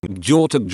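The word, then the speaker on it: gjort: off do in norwegian george sounds the exact same as deer in norwegian jort as the G and H is silent so whenever I say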